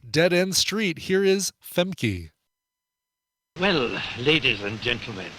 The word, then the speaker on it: Famke: Yeah, Famke Janssen is pronounced Femke, not Femke.